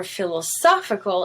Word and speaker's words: philosophical: is stressed it's olive now for philosophical it moves to the second o which happens to be